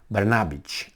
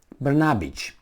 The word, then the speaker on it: Brnabić: Serbian parliament approves new government headed by Prime Minister Brnabić, I would say. That's how you probably pronounce it.